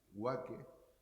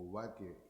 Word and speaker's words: Waque: Yo la primera vez que oí Huaque, que tiene otras maneras de pronunciar, porque aparece como Ubaque y Bubaque, que es el término aborigen, cuando estaba en